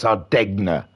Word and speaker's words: Sardegna: Vodka Rob saying, I pronounce the D as well. Good for you. Yes, Sardegna.